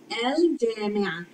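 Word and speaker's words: الجامعة: See, the lam has a move because it is pronounced, because it is followed by Jim, which is a moon letter that makes lam, a moon lam, or a pronounced lam, and it takes a move and we pronounce it.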